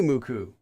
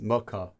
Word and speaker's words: Muku: the best thank you muku but I'm still going to sometimes think of your name as Muka because that's how it's spelled in English one two three four